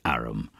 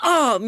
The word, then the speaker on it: arm: it's an Aram honor he pronounced it arum an arm you Goose whoever saw